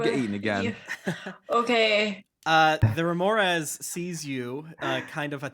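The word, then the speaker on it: Remorhaz: Remoraz.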